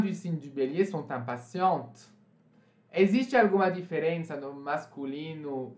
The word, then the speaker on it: impatients: Les femmes du signe du bélier sont impatientes. Existe alguma diferença no masculino singular e masculino plural? Não. Né? Vocês pronunciam isso impatient e isso aqui impatient também.